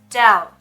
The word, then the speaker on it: doubt: Правильное произношение doubt. Doubt. Да, буква B в этом слове не произносится.